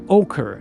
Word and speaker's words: ochre: It's ochre.